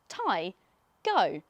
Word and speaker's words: Taigo: This is the Taigo, pronounced Taigo.